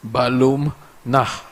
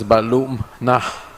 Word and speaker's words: Balum Nah: the Americas, specifically Belize, my surname is difficult for people to pronounce, but it means jaguar home in Maya, which is Balum Nah. Yesterday, I heard the leader of the opposition mispronounce my name. I forgive him. He may not know better. You pronounce it as Balum Nah.